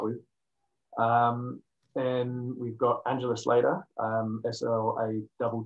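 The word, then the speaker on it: Slatter: one to start with and we've got angela slater um sl a double t er flat up but uh pronounced later she's um again a little bit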